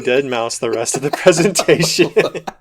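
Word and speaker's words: deadmau5: But did you hear Deadmau 5?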